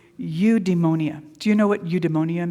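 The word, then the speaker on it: eudaimonia: It's it's udemonia. Do you know what udeonia means? Okay, it's a new word. Say it with me. Udemonia. Udeonia. It's not spelled how it sounds.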